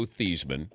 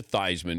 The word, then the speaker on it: Theismann: change your name because your name was Joe thieman and he said let's change it to thyman because it rhymes with Heisman so walk me through